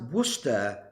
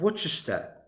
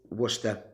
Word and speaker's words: Worcester: a qualified doctor and McLaren guy says it's pronounced Worcester not Worcester I never said Worchester so what's the [